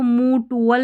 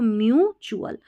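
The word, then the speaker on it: mutual: अब यहां पर इसको मू टुवल नहीं पढ़ना है। देखिए चूलल करके पढ़ते हैं। टी टी यू ए एल को। तो यह म्यू करना है। एम यू को म्यूचुअल म्यूचुअल का मतलब आपसी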